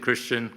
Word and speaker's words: kirishitan: So I think first off, I need to start with some terminology and who are the hidden Christians anyway? And when we're talking about this hidden Christian cultural world heritage, then of course it's helpful to understand that.